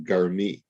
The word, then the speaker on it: garmi: what our sages call garmi, with the ah sound under the gimel, uv'yud b'sof v'chirik tachat hamem. So it's pronounced garmi.